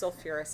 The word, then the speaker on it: sulfurous: and then for sulfite i'm not just going to say sulfus my root is sulfur is the whole root and then i can put the ous acid pronounced sulfurous acid so that was the